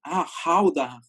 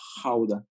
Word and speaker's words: Gouda: Pero en Holanda no tienen esta pronunciación de la G. Entonces yo cuando estaba preguntando por Gouda, todos se me quedaban viendo raro. Y le pregunté como a 3 personas y hasta que así estuve insistiendo con varias, ya me dijeron, Hauda, Hauda, porque tienen una pronunciación como si estuvieran raspando su garganta.